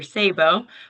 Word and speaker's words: Szabo: Sabo, but that's okay. It's frequently mispronounced, but that's all right.